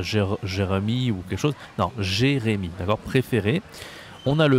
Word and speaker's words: Jérémy: Non, Jérémy. D'accord? Préféré. On a le verbe aller. D'accord? Ça s'écrit ER.